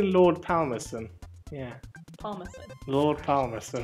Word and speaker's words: Palmerston: I'd say Lord Palmerston. Yeah. Palmerston. Lord Palmerston. Don't pronounce the L in palm.